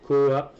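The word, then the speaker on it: QooApp: Il faut que tu télécharges Coop. Ça s'écrit Q 2 O et puis APP.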